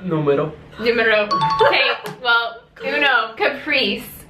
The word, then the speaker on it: numero: started all right Numero Uno how do you pronounce numero numero numero okay well Uno Caprice as in Capri